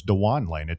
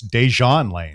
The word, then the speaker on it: Dejon Lane: Looking through the UT football pronunciation guide, because I heard you you say this, I always thought it was Dewan Lane. Apparently, it's Dejon Lane.